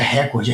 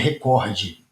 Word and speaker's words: recorde: Eh, não é recorde, é recorde.